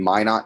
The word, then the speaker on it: Minot: revealed is discussed in the textbook uh in minot north dakota i believe that's how you pronounce that town in north dakota there was